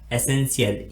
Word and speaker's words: essential: Spelling है वो है एसेंशियल, ESSENTIAL। इस स्पेलिंग में भी टी के बाद में IA आता है इसलिए हम यहाँ पर भी टी का उच्चारण सा के रूप में करते हैं।